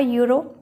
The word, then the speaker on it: euro: and european yesterday similarly she has a euro it also produces the sound of here which is a consonant so we put a before it and we can't say she has n euro it is wrong and in the next